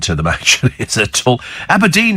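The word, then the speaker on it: Aberdeen: them actually at all abedine is known locally as Aberdine has has your Scotty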